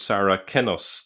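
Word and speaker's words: Saracenus: some will know but sarah kenos the the c be the c was pronounced with a k sound in earlier centuries.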